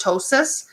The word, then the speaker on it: ptosis: term called ptosis so the P is silent so it's just ptosis in the facial muscles